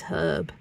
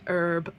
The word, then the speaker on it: herb: The one word that gets me though in the American accent is herb. If there's one word I could force Americans to say a different way is herb. It really riles me when they go herb. Like it's what? Where did the H go?